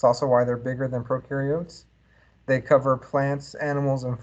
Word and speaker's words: prokaryotes: here we're looking at prokaryotes very very more specific right prokaryotes again no nucleus pro rhymes with no right so no nucleus